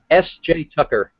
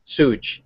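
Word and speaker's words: SJ Tucker: S.J. Tucker. Sooj, S-O-O-J Tucker, or S-J Tucker.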